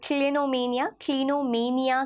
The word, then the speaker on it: clinomania: So that is called क्लिनोमेनिया की तरह से प्रोनाउंस किया जाता है।